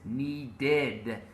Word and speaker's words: needed: Okay, in my version, with verbs ending in T or D, the ed is pronounced like a separate syllable. For example, needed, wanted, waited, ended, added.